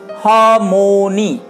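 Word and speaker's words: harmony: আরটা আমরা যতদূর সম্ভব উচ্চারণ না করতে চেষ্টা করব, হ। আর এম ও, মো, হামো, আর এন ওয়াই, নি, হারমোনি, হারমোনি, হারমোনি।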